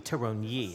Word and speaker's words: Thuronyi: Thuronyi, right? Yeah, that's not hard. Except it looks like it could be Thuronyi, I guess. Silent H, I'm used to silent H.